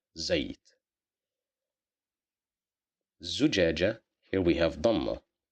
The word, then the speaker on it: زيت: Because of the fatha, we pronounce it as za, زيت.